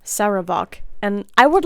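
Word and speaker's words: Sarevok: to ball such as saok saok that's not how you say his name sarok and I would like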